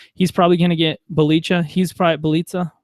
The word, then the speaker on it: Bjelica: He's probably going to get Bjelica. Rhymes with pizza, I believe somebody told me.